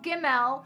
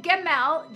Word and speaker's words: Gimel: that is coming, it is a representation of Gimel, which means the carrier of the supply of heaven.